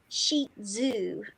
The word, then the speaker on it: Shih Tzu: So it's actually sheet zoo.